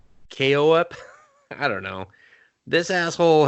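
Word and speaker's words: Koepp: It's a drama horror mystery, I guess, and it's written by David Keop. Wow. Nope. Quap? Pig Flop. There. Well, the K is silent, so it's like OEP, KOEP.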